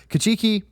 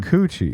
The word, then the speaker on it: Kikuchi: Uh what was his name? Kachuki. I don't know how to say his name. Kikuchi. Kikuchi. See, that's okay. That's why I don't like saying it. You were wrong twice.